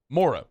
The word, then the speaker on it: Moreau: But it's it's Moreau. It's Foster Moreau. It's the man's name. It's how it's pronounced here. When he says when he says his name, he says Moreau.